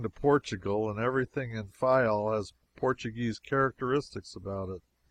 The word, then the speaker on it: Fayal: People there pronounce it Fayal, and put the accent on the first syllable.